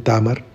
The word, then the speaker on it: Tamar: La primera de ellas es Tamar, algunos la pronuncian Tamar, que fue la madre de Fares y está